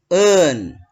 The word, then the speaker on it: earn: Earn. R-nya ini hilang ya. Earn.